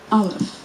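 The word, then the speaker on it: אלף: Aleph, which is silent, or some would say, makes the sound before the A in apple.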